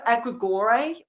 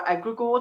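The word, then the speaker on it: egregore: It it will be very rare that you will because we've all it's a egregor um or egregor depending where you're from is how you pronounce it.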